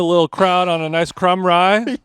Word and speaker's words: Krumrie: Krumrie That's how you say it.